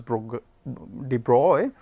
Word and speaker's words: de Broglie: De Broglie, it is written as Broglie, but he is a French scientist whose name is pronounced as de Broglie, and this D letter is written in small case.